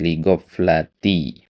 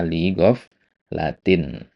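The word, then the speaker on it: لِغَفْلَةٍ: Ligoflati ya. Seharusnya ligof latin gitu.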